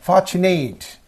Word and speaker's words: fortunate: And fortunate. So third syllable. Fortunate. Fortunate.